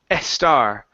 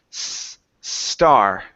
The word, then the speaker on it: star: the word star okay here you said EST star so let's take off the e sound the word is star star okay very nice